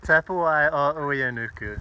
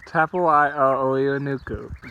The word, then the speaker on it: Tapuae-o-Uenuku: Tapuae-o-Uenuku. Tapuae-o-Uenuku.